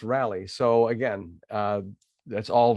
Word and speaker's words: Raleigh: them rallies and that Raleigh is actually pronounced rally so again uh that's